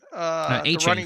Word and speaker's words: Achane: Achane, A-Chain from Miami. A-Chain. Yeah.